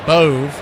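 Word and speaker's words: Bove: Zack Boove spelled B O V E. He pronounces it Boove.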